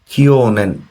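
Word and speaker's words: 去年: তো কিওনেন হচ্ছে এটা সবচেয়ে ইম্পর্টেন্ট ওয়ার্ড।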